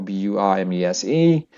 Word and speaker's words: Burmese: So example b u r m e s e. So the stress is here Burmese and and then another one is the stress is the second syllable stress.